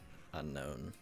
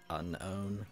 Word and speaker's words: Unown: Goodbye, you known, unknown. Unown. It's spelled unown.